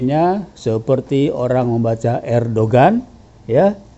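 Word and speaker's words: Erdoğan: nya seperti orang membaca Erdogan ya tulisnya Erdogan ternyata dibacanya er doang gitu termasuk Hagia Sophia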